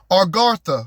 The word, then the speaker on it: Agartha: Argatha, which is spelled Agartha.